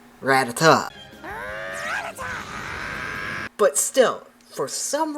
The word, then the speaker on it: Rattata: So, as a kid, this always drove me insane when people would call it Rat Rat or Rattata because in the anime they say Ratata.